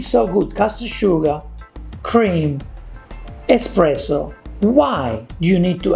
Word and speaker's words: espresso: quintessentially italian flavouring espresso good pronunciation espresso parnakota he knows that we say it well done start by